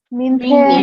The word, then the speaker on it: 明天: 明天，明天 is second tone 哈，明天 it's so tomorrow 明天。Okay, 明天 tomorrow.